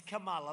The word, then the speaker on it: Kamala: pronounce her name right it's kamala like a comma kamala and yet she